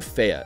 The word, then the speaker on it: Fe: Up next is a gorgeous game by developer Zoink Games and funded by Electronic Arts named Faya, and yep, that's how you pronounce it.